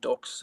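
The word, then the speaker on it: Dux: But the Ducks is spelled D-U-X. Okay. Just to be awkward.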